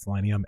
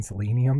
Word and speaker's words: Selenium: what's wrong with me I've always called it selenium and then I did a contract in the past where the client kept saying selenium and I felt like am I saying have I been saying it wrong for like 12 13 years I legitimately had like impostor syndrome if I've been saying selenium like wrong I should be saying selenium um like Selena Gomez I don't know if